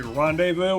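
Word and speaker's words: rendezvous: that word I know it's supposed to be Rondevu which is why I just said it that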